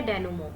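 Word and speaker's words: denouement: इसे डेनुमेंट वगैरह कुछ नहीं पढ़ते हैं, इसे पढ़ते हैं डेनुमो।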